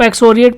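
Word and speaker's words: excoriate: इसको आप एक्सोरिएट पढ़ेंगे।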